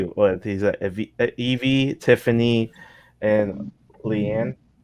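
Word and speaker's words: Liana: He's Evie, Tiffany, and Leanne. How you say it? Leanna, yeah.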